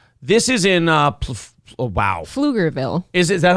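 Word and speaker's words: Pflugerville: is in uh wow flugerville is is that how you pronounce it flugerville you don't pronounce the P the p is something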